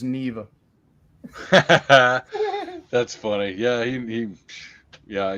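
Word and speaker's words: Niamh: Emily gets it yeah n-i-a-m-h is Neva that's funny yeah he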